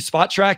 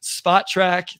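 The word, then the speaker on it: Spotrac: I said it right this time. So everybody that yelled at me and Wes on Twitter about saying it incorrectly, Spot Track. Thank you, Keith, for correcting me there.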